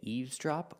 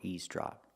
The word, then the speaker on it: eavesdrop: say very good so remember eavesdrop has two pronunciations you can say eavesdrop or eavesdrop people use both and it means when